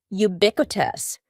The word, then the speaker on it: ubiquitous: becoming an MP next don't be fooled by the first letter U we pronounce it with a Y sound ubiquitous ubiquitous means very common